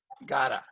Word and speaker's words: got to: And remember, we usually pronounce it. Gotta.